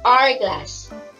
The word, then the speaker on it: hourglass: the word r glass we cannot hear the sound of letter h instead the beginning sound